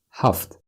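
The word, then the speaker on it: ҳафт: in the morning seven huffed huffed huffed but usually when we say that we don't pronounce t at the end Huff like that she studied seven foreign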